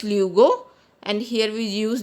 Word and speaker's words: luego: Guys, here you see, here we use G before O, it is pronounced as luego, and here we use G before E, it is pronounced as H.